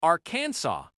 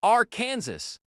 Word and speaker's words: Arkansas: Believe it or not, a law in Arkansas states the name must be pronounced Aransaw. mispronounce it as R Kansas and technically you are breaking the law.